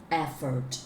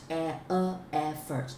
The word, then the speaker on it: effort: But here you still make a little bit mistakes in the way that you pronounce the word effort. Okay, effort, effort, not effort.